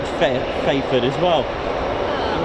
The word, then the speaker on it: Fairford: Yeah, I think it's cuz you don't really pronounce don't pronounce the R in fair.